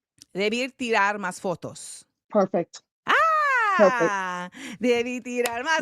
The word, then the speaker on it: Debí tirar más fotos: Bad Bunny is latest album, tell me if I'm pronouncing this right. Debí tirar más fotos.